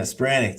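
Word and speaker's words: Spiranac: Spiranic.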